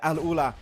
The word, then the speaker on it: Al Ula: the way, Mao, an Arabic caster, helped me pronounce it properly. So thank you very much, Mao. Yes. But yeah, Al Ula, central position, playing on the eastern side of C block.